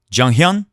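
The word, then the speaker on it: Chung Hyeon: It's more like a J sound, like Jung, and you say it first, so it's Junghyun.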